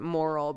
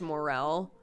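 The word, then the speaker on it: morel: few streams back that i've always pronounced it moral but apparently it's morale is like is technically the way you're supposed to pronounce that so um i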